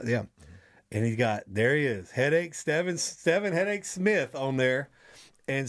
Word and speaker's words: Stevin: The first time I saw your name, I wanted to say Stephen, but then I heard it, Stevin, and I was like, oh, it just sounds